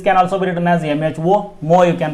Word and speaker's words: mho: This can also be written as MHO, mho you can pronounce, and the SI unit of conductance will be Siemens here.